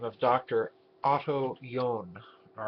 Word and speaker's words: John: name of Dr utto yon all right the last name is spelled JN it would be pronounced John in English and in German yon now Dr yon in